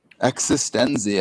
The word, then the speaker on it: eXistenZ: would go with you existence you mean existence right existenzi i think is how it's pronounced okay thank you but